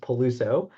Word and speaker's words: Peluso: So um so yeah just a minor correction my last name is pronounced Paluso.